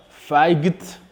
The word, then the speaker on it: fight: Vous allez voir qu'ici, la lettre G ne se prononce pas. On ne dit pas fight, mais nous prononçons simplement fight. Fight.